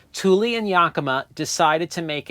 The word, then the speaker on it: Thule: years ago Thule and Yakima that's how you pronounce both of those companies names thuli and Yakima decided to make it so that